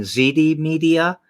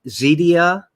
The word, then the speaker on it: Zeedia: saying it right because sometimes it sounds like you're saying zd media or z zedia yeah so the two words rhyme okay all right i